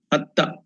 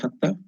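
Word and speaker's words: হত্যা: It's called Hatya. The Sanskrit term is Hatya, or the Bengali term is called as Hatya. Hatta, the pronunciation is Hatta.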